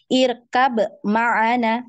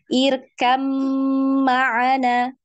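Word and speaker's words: ارْكَب مَّعَنَا: sudah sama pembahasannya jadi jangan dibaca irkab maana tapi irkam maana ya diidgamkan kemudian di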